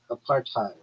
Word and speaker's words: apartheid: Because it's not an English word originally. It comes from Afrikaans, and in that language, hide is pronounced like hate or height, not head or id.